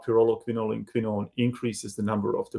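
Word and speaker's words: pyrroloquinoline quinone: And let me just try to mispronounce that for a second. Pyrroloquinolin quinone, I believe, right?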